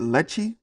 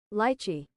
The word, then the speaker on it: lychee: Is it Lechi? I don't think it's Lechi. Lychee, lychee, Lychee.